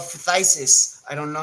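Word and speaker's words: phthisis: um symptom it's called fisis I don't know how to pronounce it but you pronounce it well P phth sis Isis fisis um that's what it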